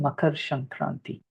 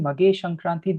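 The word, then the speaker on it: Makar Sankranti: But Makar Shankranti, Mage Shankranti, different ways of pronouncing the same thing.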